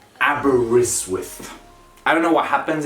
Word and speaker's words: Aberystwyth: is like an darby aberystwyth it's like there's a w in front of the eye then the first t becomes mute aberystwyth i don't know what